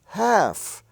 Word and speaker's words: half: spelled with l f but the l does not pronounce so you have calf a young calf half i have half a dollar half dollar h-a-l-f is pronounced half as if it were spelled h-a-f-f and in the l-k